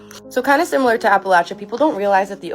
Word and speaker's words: Appalachia: And also, some of you are telling me that I'm pronouncing Appalachia wrong. I used to pronounce it like Appalachia until I was told by a local that it's pronounced like when you're saying throw an Appalachia.